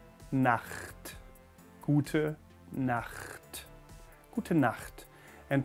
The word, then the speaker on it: Nacht: Na, like na, tongue at the roof of the mouth again at the beginning, na, and then almost like snoring, I suppose. Nacht.